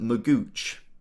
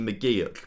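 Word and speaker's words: McGeouch: have around and also dylan magooch which apparently is actually mcgeek but i i never said it right and you guys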